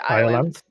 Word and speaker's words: Iolanthe: Just to confirm, both Angela and I have stressed the E on the end, but you didn't. Oh, yes. I pronounce it Iolanthe? Yeah. Iolanthe.